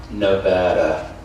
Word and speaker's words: Nevada: Home means Nevada, pronounced Nevada.